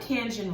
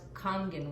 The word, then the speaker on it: Kangen: about something we say it differently call it Canyon water you call it it's actually pronounced kangen water calling in water yes okay Japanese okay